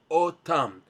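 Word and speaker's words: אתם: and verse number 37, the way it's written in the Torah is without the letter vav. We pronounce otam.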